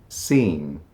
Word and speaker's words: scene: scene. A scene in a film or a play. Scene. We're not pronouncing the E on the end, just seen. It sounds just like the word he's been seen.